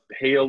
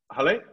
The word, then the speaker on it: Holly: of your name um I would have pronounced it Hale or Haley but I'm sure I'm wrong Holly so you scroll up